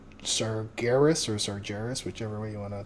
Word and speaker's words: Sargeras: of s saris or sargeras whichever way you want to pronounce it uh there's a vendor now GIS right yeah I think I think it's a hard G right GIS SAR Garis right uh so there's a